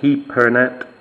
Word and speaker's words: Hipernet: this as we see hypernet or he peret as it is pronounced here so uh there you